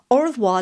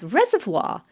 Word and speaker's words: au revoir: Louis Malle's 1987 film Au revoir les enfants, which Tarantino couldn't pronounce. He instead pronounced au revoir as reservoir.